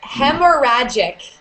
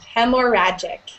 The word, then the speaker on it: hemorrhagic: It's it's hemorrhagic. You don't pronounce the second H. Hemoragic.